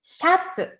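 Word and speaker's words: シャツ: Se dice shatsu. Shatsu. Entonces, se usa la shi y ya. Sha.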